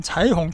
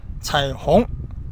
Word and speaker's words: 彩虹: 요 발음 잘하세요. 자이홍입니다. 초급 내신 분들은 자이홍, 자이홍 하는데 그게 아니고 자이홍, 반삼성, 내리가다 올라가는 거.